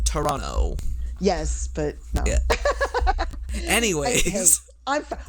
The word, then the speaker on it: Toronto: a Beatles tour of Toronto which was pretty awesome at see that's how I know you're not from Toronto because you're pronouncing the last T yes I know it's wrong Toronto Toronto yeah it's like Toronto